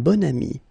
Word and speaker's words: bon ami: And the first one, un bon ami. Okay, so you can see that here you've got this adjective, bon, okay, and then you pronounce it bon ami when you make this link.